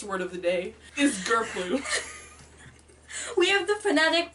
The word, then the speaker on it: grplue: So the first word of the day is grplue We have the phonetic pronunciation Oh, yeah, in case you're struggling It's pronounced gur-ploo yep, and it's spelled GRPLUE and the defin